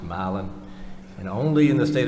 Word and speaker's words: Milan: h HST is pronounced Halston milin is brother Milan is pronounced milin and only in the state of Georgia could